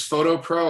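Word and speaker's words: Foto Pro: Yep, it's Photo Pro. I'll type it into the chat box too, because it's spelled FOTO. So they're called Photo Pro tripods.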